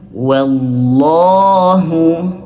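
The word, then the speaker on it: والله: Nah, maka di sini teman-teman wallah lafaz Allah di sini dibaca tebal. Coba kita pelan-pelan baca disambungkan semuanya. takfuruna biayatillahi wallahu syahid. Nah, di sini dibacanya tebal wallah. Kenapa? Karena Allah di sini sebelumnya ada huruf wau yang berharakat fathah. Maka dibaca tebal. Wallah.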